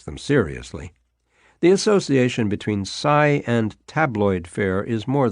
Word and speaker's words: psi: investigating psychic phenomena often abbreviated as PSI pronounced Sai Sai experiences have been